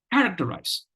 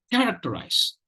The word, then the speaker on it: characterize: it's characterized characterize characterize the trick is use stress only care and don't worry about or don't care about the other three syllables characterize characterize let me